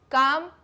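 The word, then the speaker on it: calm: काम L silent है।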